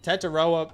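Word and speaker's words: Tetairoa: Tataroa McMillan.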